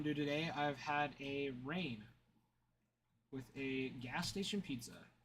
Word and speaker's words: Reign: No, it's spelled like uh re ei gn. Like you're reigning over something like a king reigns over a kingdom.